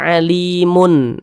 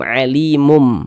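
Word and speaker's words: عليم: Jadi jangan dibaca alimun, alimun, jangan menggunakan nun, jangan dibaca alimun, tapi dibaca menggunakan mim, alimum, mum.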